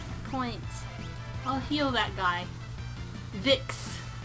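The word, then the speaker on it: Vicks: I'll heal that guy Vick it rhymes with dicks which is an awesome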